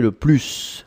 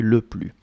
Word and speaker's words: le plus: you probably noticed that I'm not pronouncing the S in le plus. Hein? So it's quite important. You don't say le plus, hein, but you say le plus.